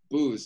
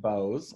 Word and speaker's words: Boos: guest today mr william booze now william the first question before right off the bat how do i say your last name oh great question so it's pronounced bows like the speakers bows because i want to